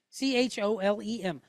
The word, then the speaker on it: cholem: C-H-O-L-E-M, cholem.